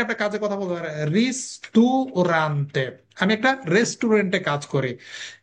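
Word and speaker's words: ristorante: অনেকে এটার উচ্চারণ ঠিক মতো করতে পারে না, এটার উচ্চারণ হবে কি? রিস্তুরান্তে।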